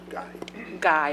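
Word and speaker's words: Ghieth: Chair, we do have one speaker, Farah Geith. Guy, I'm sorry. It's spelled G-H-I-E-T-H, so not as.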